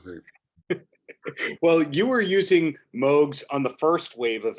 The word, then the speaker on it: Moog: Oh, by the way, do you say it a Moog or do you say it as Moog, you personally? I think that the correct pronunciation is Moog, and I've heard that from the horse's mouth, so I'm pretty sure Okay.